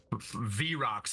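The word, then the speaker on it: Vrock: V-Rocks, baby. Everything in the United States is V-Rocks. V6, V8, V whatever. If it's got a V in front of it, baby, you pronounce it's it V-Rocks.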